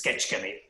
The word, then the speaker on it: Kecskemét: That's how he pronounced it. It's Kecskemét. And then Ira said, Kecskemét with pure Hungarian accent.